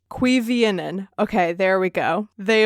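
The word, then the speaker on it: Cuiviénen: Cuivienen. Cuivienen.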